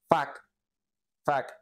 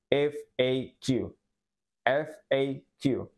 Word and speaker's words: FAQ: abrevian con estas siglas esto se pronuncia como fa fa o también se puede pronunciar como f aq f aq muy bien Ahora vamos